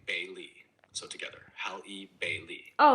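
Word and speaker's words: Halle Bailey: Bailey's name is pronounced hal ei is the same as the common name Bailey. So together hal Bailey.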